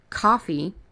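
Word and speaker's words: Ko-fi: been from Holly so that is coffee and it sounds like the drink but it spelled different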